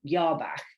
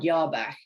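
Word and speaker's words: Jabach: a german banker called yarbach i think is how you pronounce it with a j um everard yarbag um who was a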